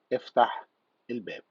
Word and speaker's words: افتح الباب: So how to pronounce open the door as Egyptian Arabic. The first one, open the door, is افتح الباب.